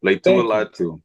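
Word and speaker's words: Laiatu Latu: I'm gonna say this name wrong, so help me out here. Latu. I think that's his name. Leitua Latu. Leitua Latu.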